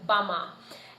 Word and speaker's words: bama: In English, you might say b, banana. In Gugiyalanji, we say b, bama.